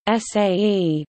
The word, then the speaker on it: sage: On some message boards, users can choose to sage, correctly pronounced SAE, though often confused as IPA, said a post if they wish to make a post, but not bump it.